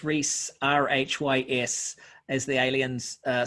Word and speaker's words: Rhys: i'm on all the platforms uh but it's rhys r-h-y-s as the aliens uh spell it out uh i.e i add that uh